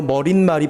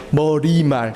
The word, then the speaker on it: 머리말: 정말 짜증나는 것 중에 하나, 김밥도 김밥이지만 머리말이 편해요? 머릿말이 편해요? 솔직히 머릿말이 편하지 않아요? 그쵸? 근데 표준 발음 뭐래요? 머리말. 그러니까 사이시온 넣어요? 안 넣어요? 안 넣어요. 그쵸?